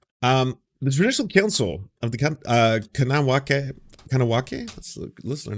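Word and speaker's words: Kahnawake: Here's how you pronounce it: Kanawake, Utah's garage. Kanawake. Kanawake.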